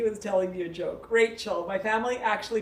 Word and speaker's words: Rachel: Rachel, love that intention.